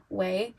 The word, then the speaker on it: Ouai: The perfume I'm thinking of in my mind, if you ever smell, I think they pronounce it Way, it's like Ouai, Way, Melrose.